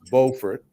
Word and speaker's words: Beaufort: those of you south carolinians that are listening beaufort is pronounced beaufort in north carolina how about that so during